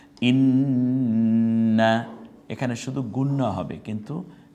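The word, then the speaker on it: إِنَّا: এটা যত দিন আপনি দেখবেন এটা কণ্ঠনালীতে মাঝখান থেকে চাপ দিয়ে উচ্চারণ। ইন্না, এখানে শুধু গুণ্য হবে কিন্তু টান আর হবে শুধু গুণ।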